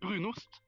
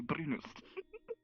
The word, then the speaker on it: brunost: It was like the brunust. Yeah, Oh, brunost. you pronounced it.